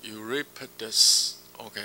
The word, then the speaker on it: Euripides: 年轻的那一位，叫 Euripides，OK，用英文发音。